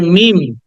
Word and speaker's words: meme: যে ফেসবুকে দেখো না মিম, দিস কল্ড মিম, উচ্চারণটা হবে মিম। লাস্টে যে ইটা আছে এটাকে বাদ দিয়ে দিতে হবে, মিম।